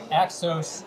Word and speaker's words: Axos: the way uh from exos financial am i pronouncing that correctly uh exos is is usually how we pronounce it but